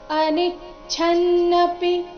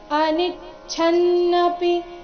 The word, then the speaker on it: ಅನಿಚ್ಛನ್ನಪಿ: ಕೊನೆಗೆ ಷಟ್ಕೋನದ ಷ ಪುರುಷಃ ಅನಿಚ್ಛನ್ನಪಿ ಅನಿಚ್ಛನ್ನಪಿ ಛನ್ನಪಿ ಛ ಮಹಾಪ್ರಾಣ ರಸ್ವ ಬರಬೇಕು ಅನಿಚ್ಛನ್ನಪಿ ವಾರ್ಷಣೆಯ ವಾರ್ ಆದ ನಂತರ